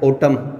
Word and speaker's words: autumn: अब देखिए ऑटम की स्पेलिंग क्या है, ऑटम पतझड़ ऋतु होती है, एन साइलेंट रहेगा ऑटम का, जैसे है ना कोलम की स्पेलिंग है, कोलम जो है ना